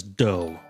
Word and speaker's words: dough: Yeah, well, this word does not listen to the rules. You have to pronounce it as dough.